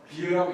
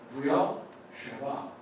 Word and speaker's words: 브엘세바: 영어로만 그냥 써놓으면 비유가 되는데요. 비유라고 읽지 마시고 부여 쉐바 이렇게 읽으셔야 되겠습니다.